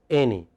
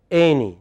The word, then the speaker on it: any: of any was right it is any the first part is pronounced speak with me any once again yeah stress first part any a then the next